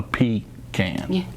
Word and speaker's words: pecan: pecan not pecan okay a pecan is what you do when you're in the woods and you got nothing else to use yeah a pea can okay just that's how you remember how to pronounce it very sweet and so